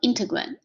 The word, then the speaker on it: integrand: So the inside the derivative function is called integrand. Okay, if this is wrong, I'll change it. But for now, just remember the pronunciation, integrand.